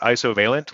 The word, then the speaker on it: Isovalent: Yeah, and Vusa has a question here, what is the correct way to pronounce Isovalent? You'll notice I pronounce it Isovalent like isovalent bond in chemistry.